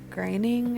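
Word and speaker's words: Groening: with Netflix is disenchantment cartoon created by Mac graining I think is how you say his name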